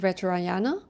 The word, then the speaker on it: Vajrayana: Is it Vajrayana? Okay, great. Ooh, yeah.